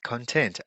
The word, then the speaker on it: content: The content. Okay, so remember content, with the stress on the second word is actually the adjective. The content, the stress on the first syllable is the noun, the content.